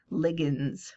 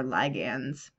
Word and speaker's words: ligand: complex ions lewis bases are called ligands or ligands I've heard it both pronunciation I like the shorter I better personally ligands so if we're thinking